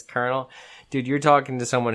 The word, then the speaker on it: colonel: uh what's it uh colonel connell it's spelled connell the way it looks but it's colonel dude you're talking to